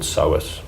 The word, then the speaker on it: psoas: flexor and then there's a muscle called psoas which is spelled psoas and that one is